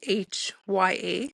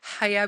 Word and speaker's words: Haya: it's spelled H A H Y A. So, a lot of people think it's Hya Beauty, but it's actually Haya Beauty.